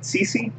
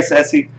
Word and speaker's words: Ceci: Yeah, so we can actually see Trackhawk's account because he's in this guild with Cece. Or Ceci. Sorry, Ceci. I always want to pronounce it Cece for some reason.